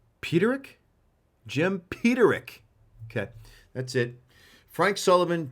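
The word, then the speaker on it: Peterik: How do you pronounce this guy's last name? Peterick? Jim Peterick.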